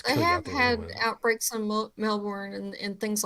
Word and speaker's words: Melbourne: time ago about that it's not melbourne because that's the way that it's spelled it's melbourne because that's the way that we say it they say it was